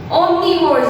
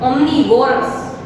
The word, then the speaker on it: omnivores: Omnivores animals. Kids, I just want to rectify you. When I was a child, I used to speak omnivorous. No, that is a wrong pronunciation. It's omnivores.